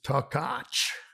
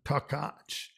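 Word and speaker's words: Takács: earth so jenna and this is takach so the ch is a cha son takach and you know takacha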